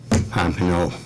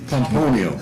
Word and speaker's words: Pomponio: Densler to cast our vote for Darlene Pompano. Sorry, killed that one. Pomponio. Pomponio, it's just kind of rhymes with Deponio.